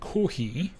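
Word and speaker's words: コーヒー: Kohhi is the Japanese pronunciation of coffee. So Japanese kohhi. Yeah, they don't quite have an F sound in the alphabet, I don't think.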